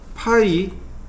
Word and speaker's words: ø: 얘는 뭐라고 읽냐면 파이 50이라고 읽으시면 돼요.